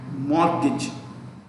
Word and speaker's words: mortgage: loans for hypothecation and mortgage the t in mortgage is silent so it is important